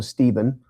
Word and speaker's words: Stephen: So, Steven pronounced ste.